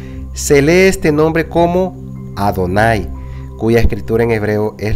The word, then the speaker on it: Adonai: Señor las vocales de adonay se agregaron a las cuatro letras del nombre sagrado de nuestro padre celestial para recordar a los lectores que este nombre se debe de pronunciar adonay es decir este nombre